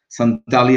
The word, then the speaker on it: Santali: uh as you know centali is a is a language often uh pronounced as santali as well uh it's a most